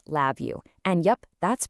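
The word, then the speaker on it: LabVIEW: The next big thing was a tool called Lab View. And yep, that's pronounced Lab View.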